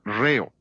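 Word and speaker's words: ῥέω: nuestra palabra ritmo es la palabra griega reo rh o la h es el acento en griego por eso acentúa mos la primera sílaba de la palabra ritmo jesús uso esa palabra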